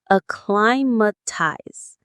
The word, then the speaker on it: acclimatize: Alimatize. Let's try it. Alimatize. Alimatize. The stress is on the second syllable. Cly. Alimatize.